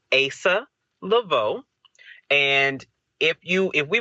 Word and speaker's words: Asa Leveaux: dude so first off the way you pronounce my name is Asa Lavo and if you if